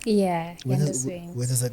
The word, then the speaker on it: Yandahswings: But everybody knows you as Yandahswings. Yeah, Yandahswings.